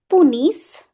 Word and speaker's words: punissent: Les parents punissent, ENT remains silent.